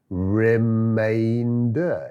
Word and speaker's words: remainder: Remainder, it's remainder.